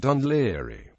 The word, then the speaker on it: Dún Laoghaire: In some cases, the old anglicized spelling Dunli DNL area is seen. This is also how the town's name is commonly pronounced.